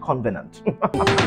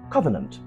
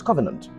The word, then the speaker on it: covenant: disappointed in you because the pronunciation of that word is not convenient the pronunciation is covenant oh yes covenant there is no m after the first co so you have a